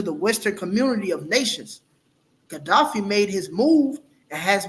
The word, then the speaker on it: Gaddafi: Li strong man gdaf gafi how did you pronounce that Gaddafi yeah Gaddafi okay KH yep it says U Omar Gaddafi